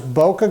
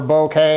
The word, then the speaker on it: bokeh: so as far as bokeh goes or bouquet however you want to pronounce it this does a pretty